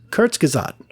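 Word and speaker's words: Kurzgesagt: the second honorable mention I have is uh kurts kazad yeah it's a YouTube channel and I will spell that out for you um it is k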